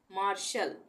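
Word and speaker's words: martial: है तो यहां पर यहां पर इसका उच्चारण श होगा टी का कैसे मार्शल इसको हम पढ़ेंगे मार्शल मार्शल उसी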